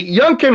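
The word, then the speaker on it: Youngkin: and the one thing I like about governor younken of Virginia is the Junkin rhymes with Lincoln if you use your imagination yeah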